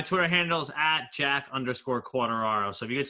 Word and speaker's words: Quartararo: how do you say your last name man quarter arrow you can just call me if that's